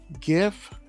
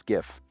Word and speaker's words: GIF: piss somebody off it's it's GIF if I'm trying to be professional about it it's GIF because that's actually how it's supposed to be pronounced all right um Android